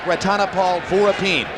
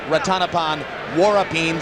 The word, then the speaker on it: Ratanapol Sor Vorapin: Country and incidentally yes it looks like ranal Vine but we were told by those who speak taii and amazingly enough we don't that it should be pronounced rattanapan warin so that's what we're